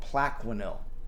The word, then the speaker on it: Plaquenil: corona virus out like it's not even there is spelled PLA qu i and IL Plaquenil that's PLA qu AI ni l Plaquenil and